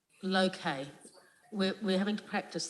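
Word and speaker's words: Lowcay: of laura k please l-o-w c-a-y and it's low-k we're we're having to practice this because we've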